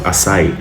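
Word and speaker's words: açaí: food there's a power food in Brazil called assai it's spelled AC CC AI aai isoo it's I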